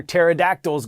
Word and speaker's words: pterodactyls: why can't you hear pterodactyls go to the bathroom because the p is silent all right congrats to